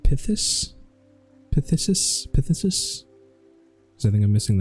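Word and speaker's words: phthisis: already know that um but I assume it's pronounced like pus pthis pthis I think I'm missing that last is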